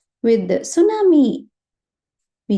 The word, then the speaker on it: tsunami: the English way but originally it is a Japanese word so when you pronounce this in Japanese you will use it tsunami it's a Japanese wordi Su will be pronounced as it Su itself right so that is and this looks like a wave the font looks like the way tidle right so it is easy to remember also right s only thing the pronunciation should be should be with the T tsunami right so so we